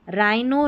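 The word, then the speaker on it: rhino: देखो आरएच आरएच आरएच आरएच र पढ़ना है क्योंकि एच यहां पर साइलेंट है। एच का उच्चारण नहीं हो रहा है।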